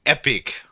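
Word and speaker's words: EPYC: The Epic, but it's spelled It's the It's the new Epic series, but it's spelled E P YC.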